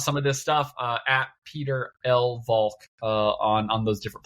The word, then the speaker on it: Pieter: Peter Lv. It's spelled funny though. My name is Dutch.